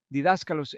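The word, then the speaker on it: διδάσκαλος: Él dijo, Maestro, didáscalos en griego, y estoy usando la pronunciación griega moderna.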